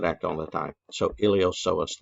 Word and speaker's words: iliopsoas: all the time so iliopsoas the p is silent don't say iliopoisos it's iliopsoas okay um and then